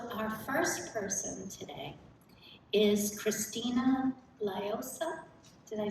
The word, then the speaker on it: Christina Liosa: So our first person today is Christina Liosa.